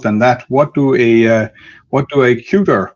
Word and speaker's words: Qt: with the issue of the pronunciation of Qt itself. So meeting a customer at a trade show, you would hear Q-T, and then after some time they picked up the internal Qt.